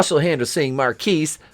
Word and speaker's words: Marquise: she has her brother marquise pronounced marcus to thank for it which